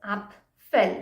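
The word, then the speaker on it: Apfel: word up fell okay it is pronounced as up fell that is apple up fell if without yeah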